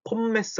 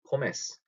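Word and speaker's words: Pommes: 여기다 폼메스 하지 마시고 포메스. M 두 개 들어가는 거 혹은 N 두 개 들어가는 발음 얘기했었죠? 콤맨 아니고 커맨. 큰넨 아니고 그는 이런 식으로 할 때처럼 폼메스가 아니고 포메스 이렇게 읽으시면 됩니다.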